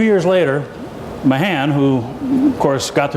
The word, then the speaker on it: Mahan: Captain Alfred Thayer Mahan, or as my friends from World War II who knew USS Mahan correct me, some say Man, take your pick. What's the pronunciation of the current DDG? Mahan, right? We'll use Mahan so you know what we're talking about.